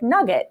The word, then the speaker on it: NUGT: And then you also have NugT, which is pronounced like Nugget. So tell us more about these. Yeah. So, Nugget and Jay Nug are